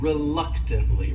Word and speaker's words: reluctantly: next word is reluctantly this word has four syllables and the stress is on that second syllable that third syllable also has that schah reluctantly reluctantly and what it means